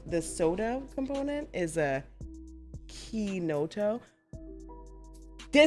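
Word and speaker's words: Chinotto: Yeah, and I know I messed up the way that I was supposed to pronounce it in the conversation prior. But it's called, the soda component is a Kinoto.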